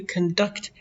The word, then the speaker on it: conduct: behavior is the way you conduct accent on the second syll or lead yourself. Demak mana shu xulq maʼnosi fe'l ham bo'lar ekan. Yaʼni the way you conduct. Oʻzingizni tutishingiz. oʻzini tutish maʼnosida kelyapti. Agar fel boʻlsa. Keep the accent on the second syllable to conduct or lead an orchestra and to conduct an interview by asking someone questions.